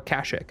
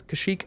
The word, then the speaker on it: Kashyyyk: like a sheep or Kashuk I believe it's Kashyyyk and I don't know where I've heard Kashuk Allah for so much